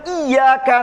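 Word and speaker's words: إِيَّاكَ: Kalau Bapak misalkan al-fatihah, kalau yang benar kan iyyaka na'budu wa iyyaka nasta'in, iya-nya ditekan. Iyyaka na'budu wa iyyaka nasta'in, artinya hanya kepadamu ya Allah kami beribadah, dan hanya kepadamu kami memohon pertolongan. Kalau dibacanya iyyaka. Tapi kalau Bapak ngantuk, iyyaka na'budu wa iyyaka nasta'in, ya-nya nggak ditekan, artinya berubah Pak.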